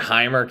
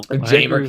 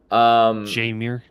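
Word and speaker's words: Jeimer: to tell me that Heimer Candelario is gonna win your team 90 games? You can't tell me that. No, Jamer Candelario. Sorry, I mispronounce his name every single time. Jamer.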